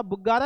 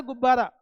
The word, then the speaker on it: गुब्बारा: क्या होता, बुग्गारा या गुब्बारा बेटे, बच्चे बोलते बुग्गारा, बुग्गारा नहीं होता, गुब्बारा होता।